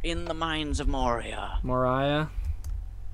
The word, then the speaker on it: Moria: Moria? It's pronounced Moria.